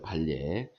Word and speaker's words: 반례: 발례라고 읽어요. 발례. 이렇게, 발례. 이렇게 읽어요.